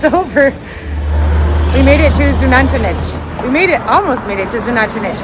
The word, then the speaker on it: Xunantunich: We're gonna go to Xunantunich. I later found out it's pronounced Xunantunich.